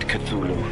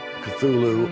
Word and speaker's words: Cthulhu: And so finally, in a letter of 1934, he tells a colleague, well, it's really meant to be 2 syllables.